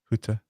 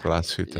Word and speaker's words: Glashütte: Huta. Excellent pronunciation. No, that's good. No, that's good. That's way better than Glashütte. So Glashütte. they're proud of the New York underneath the Yeah, glass huta.